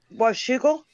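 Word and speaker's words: Washougal: You might want to spell that out or in the chat. Well, it's in my name. Oh, wugal.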